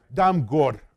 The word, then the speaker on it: Damgård: And this Damgård, my Danish is awful. So it's something like Damgård. It's Damgård. I think D is not pronounced.